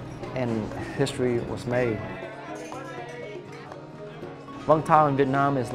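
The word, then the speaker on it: Vũng Tàu: Because we Americans would say Vung Tau. Of course, right? Of course. Like we say pho instead of pho. Exactly. Right? The Vietnamese pronunciation of it is Vung Tau.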